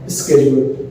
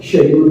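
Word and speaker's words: schedule: जैसे अंग्रेजी का एक लफ्ज है स्केड्यूल, कुछ लोग स्केड्यूल बोलते हैं और कुछ लोग शेड्यूल बोलते हैं, लेकिन चीज एक ही, लेकिन बोलने का तरीका चेंज हो गया।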